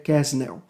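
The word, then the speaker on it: Quesnel: pasquier né ou pascácio alguns vão chamar de pasc mas a pronúncia é pasquier kesnel bom e lá no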